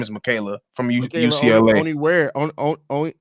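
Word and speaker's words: Onyenwere: Oni where Oni and where I believe is how you pronounce it, if I'm not mistaken.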